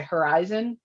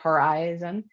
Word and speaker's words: horizon: a long eye right horizon and when you say horizontal just because of the additional um uh syllable on the end the vowel changes to a short eye so it's horizontal um and just that small